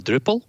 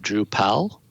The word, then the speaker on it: Drupal: know several years um a lot of people said drew powell and those pronounced drupal drupal were kind of in